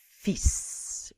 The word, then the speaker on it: fils: Son fils. Pronounce that S.